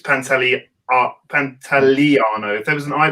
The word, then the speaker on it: Pantoliano: pronunciation's there i mean what would you say pantoliano yeah pantaliano is the is the correct pronunciation i'm going to give it to him